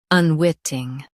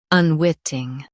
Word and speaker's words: unwitting: Both US and UK have the same pronunciation of this word, unwitting. Now read the syllables shown on the screen naturally. Wit, ing, unwitting. Stress wit and keep ing light.